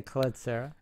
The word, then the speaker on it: Collet-Serra: up on a ruling in how to properly pronounce? We're going to say Collet-Serra.